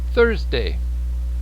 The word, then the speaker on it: Thursday: out the tongue but if you look in this picture really closely you'll see i say thursday third third if you can look underneath my mustache it's there thursday thursday thursday friday friday saturday saturday